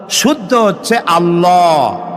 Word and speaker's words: আল্লাহ: গুণ বলেন কি গুণাবলীতে বিশ্বাস আল্লাহর নাম আল্লাহ বলেন তো আল্লাহ নয় কিন্তু আল্লাহ হচ্ছে অশুদ্ধ শুদ্ধ হচ্ছে আল্লাহ বলার সময় মুখটা গোল হয়ে যাবে বলেন তো সবাই উচ্চারণ করেন আল্লাহ আবার বলেন আল্লাহ